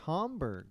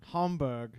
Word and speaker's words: Hamburg: Is it pronounced Hamburg? Hamburg. I guess I thought Hamburg. No, that's totally a Canadian way of saying it.